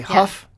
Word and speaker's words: Hough: Okay, Hough, right? Hough.